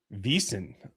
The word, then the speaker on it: Vilsain: He said he said pronounce it more like E. Second I. Vilsain, huh?